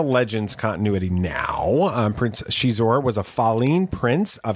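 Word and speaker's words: Xizor: eyes in different people it looks like zeiss or thing it's prince shizuor it's spelt x-i-z-o-r um let's give you some context he's actually from the legends continuity now uh prince chizor was a fallen prince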